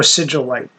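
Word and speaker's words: Sigillite: mankind and um Melador the sigalite or sigilite uh like sigil um m a l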